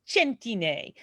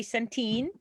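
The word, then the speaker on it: Centine: That would be the Italian way of saying it, but I mean the American way of saying it. But the Italian way is ch, so it's a hard C. So think of cento, like 100.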